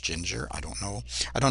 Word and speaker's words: Jinjer: I think it's pronounced Ginger, I don't know.